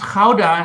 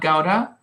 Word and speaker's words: Gouda: but I am German, and the cheese is pronounced Gouda and not Gouda.